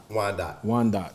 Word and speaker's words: Wyandotte: And how you pronounce it? It's Wyandotte County. Wyandotte. Yeah.